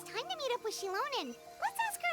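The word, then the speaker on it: Xilonen: Oh, it's time to meet up with Shilonen. Let's ask her how things have been going. That's how you pronounce her name.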